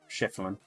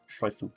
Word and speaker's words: Schlieffen: Prussian versus Schifflin. Schlieffen.